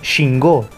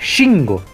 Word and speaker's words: Shingo: Dicen Shingo, con acento en la última O, cuando debería decir Shingo, así como lo estoy diciendo yo. Lo cual es muy curioso,